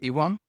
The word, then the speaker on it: Iwan: know my name uh Ian uh it is pronounced as letter E number one and my last name